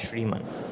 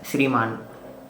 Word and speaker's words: Shriman: This is Shriman. Well, it's pronounced as Sriman.